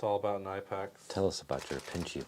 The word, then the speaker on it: Knipex: Oh yeah, it's all about nipex. Tell us about your pinchy boys. Knipex. Nipex. Side cutters. Side cutters. Kipex. Sorry, that's from drinks. They pronounce the K in Germany.